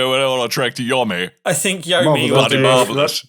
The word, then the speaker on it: Yomi: No, I was just genuinely surprised because so we're talking about Trek to Yomi or Yomai or Yumi. No, I prefer Yomi. Yomi?